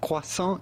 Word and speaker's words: croissant: It'd be fine if you cannot pronounce the French R to say croissant.